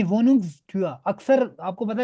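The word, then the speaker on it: Wohnungstür: वोनुंग stir stir स्टूर नहीं, वोनुंग स्टूआ।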